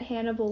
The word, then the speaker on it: Hannibal: the roman history class name rhymes with cannibal which makes it funny that hannibal lecter cannibalism yeah show